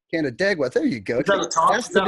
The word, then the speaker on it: Canandaigua: How the hell do you pronounce that? Canandaigua. Canandaigua.